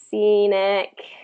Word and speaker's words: scenic: S instead of SC, it's just going to be S. That C doesn't really have the same. Scenic is the same. Scenic.